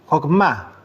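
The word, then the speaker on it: חכמה: Ahora, para iniciar la palabra sabiduría en hebreo se dice hogma, acento en la a.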